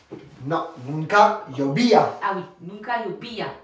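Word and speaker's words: nunca llovía: Ah j'arrive pardon je mets face Nunkaobia. Non nunka yobia. Ah oui nunka yobiya. Attention en espagnol on prononce toutes les lettres.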